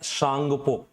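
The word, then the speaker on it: Tsangpo: से क्या बोलते हैं टी साइलेंट रहता है सांगपो सांगपो के नाम से यह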